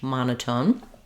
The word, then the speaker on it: monotone: same tone or pitch monotone um uh coming from One Mono being one um we have first syllable stress in monotone and so this follows